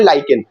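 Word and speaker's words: lichen: जैसे लाइकेन, आपने एक नाम सुना होगा लिचिन, जिसको बोलते हैं कॉमन लैंग्वेज, लेकिन उसका एक्चुअल प्रोनाउंसिएशन है लाइकेन।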